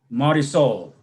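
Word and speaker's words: Marisol: is short for Mariana Marysol Oh rhymes with parasol Mari pasa that's Spanish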